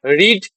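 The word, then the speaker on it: read: সেজন্য হবে কি হবে রিড রিডের তিনটা ফম কি হয় রিড রেড রেড তাহলে কি হবে রেড এডি বানান একই উচ্চারণ আলাদা এটা ভিওয় এটা ভিট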